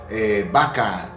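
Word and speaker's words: Baca: En un terreno que tienen en un pueblito de Yucatán que se llama Vaca. Se llama Vaca, pero aquí se escribe con B de burro.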